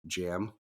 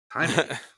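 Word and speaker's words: Jaime: was so annoying because the guy kept pronouncing it as like jam not even Jamie he was like jam Rees I was like no it's Hae can you hear yeah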